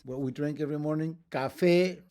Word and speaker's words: café: What we drink every morning, café, accent. We don't say café, we say café, so we have to put a written accent.